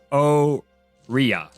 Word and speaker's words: Oria: Oh, and I also put correct pronunciation of the planet is basically the word arena, but without the N. So it's Oria.